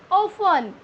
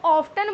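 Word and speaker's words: often: हम American English में इसको ऑफ्टन ही प्रोनाउंस करेंगे, हम ब्रिटिश इंग्लिश में इसको ऑफन प्रोनाउंस करेंगे.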